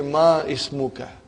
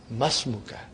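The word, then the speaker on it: ما اسمك: It will be incorrect to say Ma Ismuka. You should say Masmuka. Because Hamzatul Wasal.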